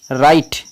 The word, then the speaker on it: write: WRITE राइट, इसे ब्रिटे नहीं पढ़ेंगे क्योंकि यहाँ W साइलेंट है।